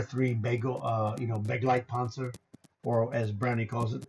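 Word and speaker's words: Begleitpanzer: Brownie calls it the bagel panzer. He can't pronounce German properly. So he he's like I can't say it. He goes it's the it's a bagel panzer which is a great name for it.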